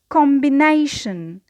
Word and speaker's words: combination: So it is a word of 4 syllables. The primary stress, as we have said, because we have the suffix ion, so we place the stress just on the syllable before it. So combination, the stress on nay, and because we have two syllables before the primary, we need to add another level of stress, which is secondary stress, and we place it